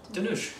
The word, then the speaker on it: Dhanush: Dhanush.